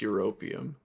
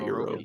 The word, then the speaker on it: Europium: Oh, well, first of all, it's pronounced Europium, Yeah, not Europum.